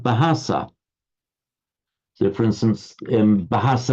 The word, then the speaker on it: bahasa: taken over in Malay the malays were highly conscious that it had to be an aspirated bur but the malaise equally were incapable because of the phonetics of their own language of pronouncing a ba and that's why that's why you get um they pronounce it bahasa so for instance um